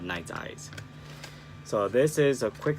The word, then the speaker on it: Nite Ize: butchered their name because the rep told me that it's pronounced night sized not nights I see or whatever I called it last time but so sorry it's called night eyes so this is a